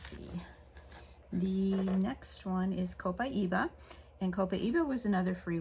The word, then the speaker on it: copaiba: south america so um different people pronounce it kind of off but a copaiba i'm pretty sure is the actual name that you would want to call it and again i said